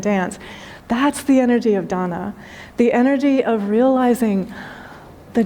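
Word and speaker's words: दान: I will also just tell you that the Sanskrit word for giving, so if you put it into English, it's D-A-N-A, and it's pronounced dana.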